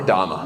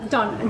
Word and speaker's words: Donna: Donna or Danna? No, Donna. D O N N A. So, how do Americans say Donna?